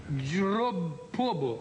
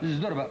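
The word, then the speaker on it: Здорово: Dropobo. Não, melou no final do Zdorova. Mas também está escrito Zdorova. Em cirílico, Zdorova. Zdorova.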